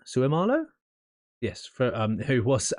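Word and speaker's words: Seumalo: about Isaacson oh this this guy I've already butchered that name Isaac sumalo Sue Marlow yes for um who was at the Eagles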